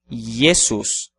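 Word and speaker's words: Iesus: Jesus de qualquer forma a pronúncia é i e não J mesmo que que a grafia escolhida seja aquela que utiliza a letra J yesus quanto à letra u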